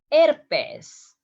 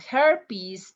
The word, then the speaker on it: herpes: Herpes. It's not herpes, it's herpes.